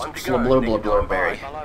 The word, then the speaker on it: Fairbury: It's pronounced Fairburbry. Actually. So, glad I got that clarified.